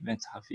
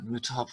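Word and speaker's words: متحف: Mütahafi, methafi iki türlü okunuyor. Lan dersen mütahaf. Evet. Methaf diye İnsanların genelde yanlış okuduğu bir kelime mütehaf olacak aslında. İster aynısını Arapçadan Arapçaya araştıralım. Burada da hem methaf hem mütehaf demiş.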